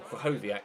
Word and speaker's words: Krychowiak: Or Krychowiak, as I was told in the comment section in the last episode that his name is pronounced.